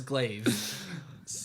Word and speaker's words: glaive: Cypress Glaive. Glaive is a cool name. Wish I'd I called do myself like the way it's Glaive.